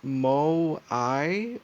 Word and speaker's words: Moai: to pronounce my uh let's see here it's pronounced Mo I or um you can I can listen to